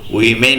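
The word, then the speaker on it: women: হলে ওম্যান আর যদি বহুবচনে হয় তখন কিন্তু উইমেন উচ্চারণ হয় ডব্লিউ ই যদি থাকে তাহলে কিন্তু উচ্চারণ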